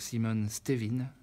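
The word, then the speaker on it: Simon Stevin: un c'est un homme Simone c'est simplement que c'est un Flamand donc on prononce pas ciment on prononce Simone donc Simone Steven c'est son nom ce génie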